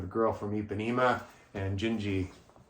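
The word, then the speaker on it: Dindi: a version of the girl from epema and gingi it's it's spelled dindy but it's pronounced gingi when you hear Frank sing it just a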